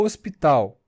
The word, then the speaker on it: hospital: letra sem som o hospital não pronunciamos h é uma letra sem som que não representa um